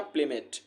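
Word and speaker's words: plummet: तो आप स्पेलिंग याद रखिएगा, प्लम मेट पढ़िएगा प्लेमेट, ठीक है।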